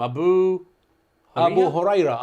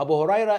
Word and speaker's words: Abu Huraira: Abu Huraira. Abu Huraira is one of the great, wonderful Muslim scholars too.